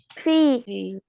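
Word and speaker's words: فِي: ফি ফি, টেনে পড়তে হবে।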